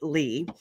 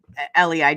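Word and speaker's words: Leigh: I know you don't find many people that spell it Lee. Um, L E I G H. And Lee, how many times have people called you Lei or Leah or something and they can't when she I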